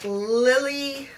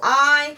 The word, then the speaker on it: Lili: I did use that Lily, I think that's how you say it. It's Lili, and I put that down underneath, maybe like 1/3 in the inner part.